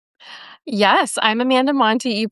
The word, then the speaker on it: Montei: I'm Stephanie O'Connell and I'm here with Amanda Monty. Amanda, first introduce yourself. Yes, I'm Amanda Monty. You pronounced my name right, which is amazing because it doesn't always happen.